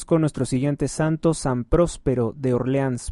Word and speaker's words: Próspero: San Próspero de Orleans, próspero con acento en la o en la ciudad de Orleans, en la ciudad de la Galia Lucdunense, San Próspero Obispo del siglo V.